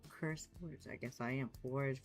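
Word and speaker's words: CurseForge: Sometimes it's easier to find some of his stuff on Curse Forage. Am I saying it right? I'm saying it wrong, isn't it? Yeah, Curse Forge.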